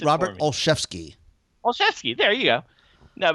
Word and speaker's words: Olszewski: It's Robert Olszewski.